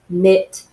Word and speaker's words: knit: we were focusing on KN like in knowledge knit know if there's other things